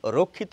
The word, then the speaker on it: রক্ষা: শিক্ষক অর্থাৎ হিন্দিতে ক এবং মূর্ধন স এর উচ্চারণ রক্ষিত হয় বাংলায় হয় না এখন তাহলে আমরা কি